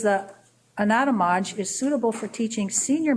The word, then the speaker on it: Anatomage: Anatomage.